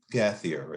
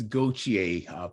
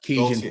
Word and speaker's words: Gautier: of course, Ron and Gathier. Am I pronouncing it correctly, Ron? It's Gautier, Cajun Gautier. French, Ah, and nobody French.